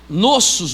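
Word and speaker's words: νόσος: de noso no grego nossos no grego n u sou a mais ou menos assim é se a pronúncia nos nossos nossos mais ou menos essa pronúncia essa doença a Bíblia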